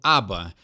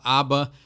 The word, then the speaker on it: ABBA: correta então vamos começar esse é bem fácil esse todo mundo já fala certo é o aba então não tem uma pronúncia muito diferente do que a gente já conhece então essa banda aí o inglês o português é bem parecido Então se falar aba não tem problema vamos são próximo artista